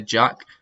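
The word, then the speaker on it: Jak: I'm going to say Jack. It's spelled J-A-K, but I'm going to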